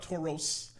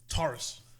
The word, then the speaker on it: Tauros: General Tauros it's not Tauros it's not Rose it's Taurus isn't it t a u r oos yeah but it's pronounced Taurus not want to be